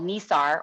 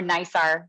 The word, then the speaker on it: NISAR: in there today is called NISAR or NISAR. Some people pronounce it slightly different, but it stands for the NASA ISRO SAR, or synthetic aperture radar mission.